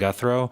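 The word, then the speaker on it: Guthreau: perspective and input my name is uh guthro spelled v-i-n-s-o-n last name is spelled g-u-t-h-r-e-a-u and i serve as the executive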